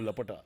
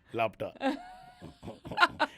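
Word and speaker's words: Laapataa: No, Lapata. What did I say? Lapta.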